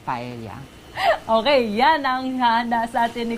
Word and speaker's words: paella: Mollica nominate an oompa Elia did I say it right but Elia paella paella euros Valenciana but it's paella okay yeah now and